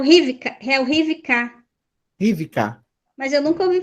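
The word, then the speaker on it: רִבְקָה: É o Rivka.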